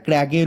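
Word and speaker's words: crag: totally কিন্তু কিন্তু একটা ক্র্যাগের উপরে অবস্থিত কোন ক্র্যাক না রজমল রজমল ক্র্যাগের উপরে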